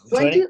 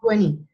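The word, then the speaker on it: twenty: 20 or 20, puedes decirlo igual. 20 se dice en la pronunciación americana y la británica utiliza mucho la T.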